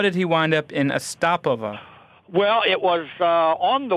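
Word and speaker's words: Astapovo: Ostapovo, as the name of it, comes from the ancient name Ostap, pronounced Ostapovo.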